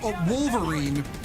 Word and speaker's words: WLVRN: However, from what I can tell, the best ball pup is the Desert Tech WLVRN, pronounced Wolverine, which is an American design.